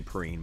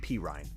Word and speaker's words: Perine: People say Perrine, but I think it's P. Ryan. I think you say his name P. Ryan.